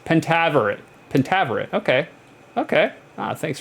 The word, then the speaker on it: Pentaverate: old as beef like and pentavarit pentaverate pentaverate okay okay ah thanks for the step-by-step pronunciation I needed it um guys we got